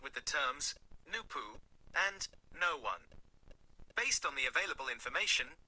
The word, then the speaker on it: Noone: No one pronounced noon.